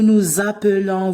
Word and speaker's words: nous appelons: Pourquoi ici on prononce nous nous appelons, vous vous appelez? Pourquoi? Parce que le mot qui se termine par S, suivi d'un autre mot qui commence par une voyelle, on fait toujours la liaison.